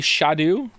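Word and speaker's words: Scadu: that finally scared me did you know apparently scat is pronounced Shadow uh why didn't they spell it like Shadow then how you getting Shadow from scat it's meant to be shadu it's never not entertaining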